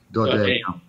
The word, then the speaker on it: Daudet: So you say in the book that, how do you pronounce his name, Daudet? Daudet.